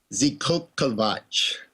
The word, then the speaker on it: Zikokovac: Zikokovac. It's yeah, it's a Mesoamerican word. It's from Mesoamerican mythology.